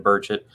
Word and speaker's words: Burchett: Burchett, if that's how you pronounce his name. Burchett, yeah.